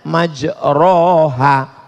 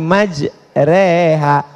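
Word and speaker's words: مجراها: Tulisannya majroha tapi bacanya miring. Bismillahi majreha namanya imal lah.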